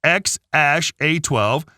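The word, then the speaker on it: X Æ A-12: around prompting Grimes to help everyone with pronunciation pronounced X Ash a12 the name has several Inspirations including the couple's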